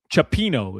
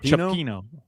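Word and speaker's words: cioppino: Chapino is how you pronounce it. Chapino.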